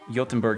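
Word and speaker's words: Göteborg: Jotunberg should be pronounced as with a soft G, like a J. Oh, so Jotunberg? So like how you say the word job, so like that?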